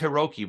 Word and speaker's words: HI69: member from Congo Hiroki it's pronounced Hiroki but it's spelled High 69.